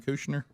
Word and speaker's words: Kushner: Kushner. Uh Jared Kushner.